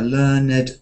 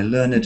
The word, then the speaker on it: learned: you're in court um somebody might be a learned gentleman learned and you can hear Ed as a as an adjective my learned friend learned so sometimes participle adjectives break that rule but verbs don't have Ed learned so I learned the